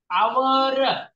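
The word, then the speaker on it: hour: चा पाय मोडा हवा आवर याला आवर असं म्हणतात हे आवर नाही आवर नाही नाही ताई आवर एच कॉन्सोनंट या शब्दाची स्पेलिंग आहे यस राईट आहे स्पेलिंग कॉन्सोनंट आहे पण प्रोनाऊन्सिएशन जे आहे ते कॉन्सोनंटचं नाही आहे हवर नाही ते तुम्हाला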